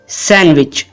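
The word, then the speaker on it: sandwich: गलत प्रोनंसिएशन है सैंडविच इस वर्ड में डी साइलेंट है और इसको हम प्रोनाउंस करेंगे सैंडविच सैंडविच फिर कहेंगे सैंडविच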